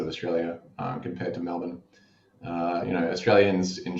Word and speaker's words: Melbourne: i got to say it's pronounced melbourne melbourne how did i say it m-e-l-b-n melbourne melbourne melbourne i'm getting closer